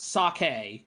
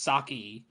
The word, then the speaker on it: Saki: me uh it's not sake this is not the protagonist's name it's not sake it's saki yeah it is spelled with an eye but i think sake